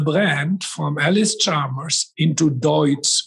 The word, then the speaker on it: Deutz: The second, they changed the brand from Ellis Chalmers into Deutz, which in America they used to call it Dütz or something like that, because it's a difficult word to pronounce in English.